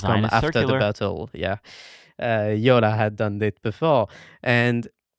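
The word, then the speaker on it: Jolla: Um and it's called the Yola phone. Um, it you spell that J O A L L A YOLA.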